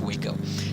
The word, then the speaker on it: Waco: hunter so uh the the city or the town of waco is pronounced exactly like that is pronounced waco and i think that's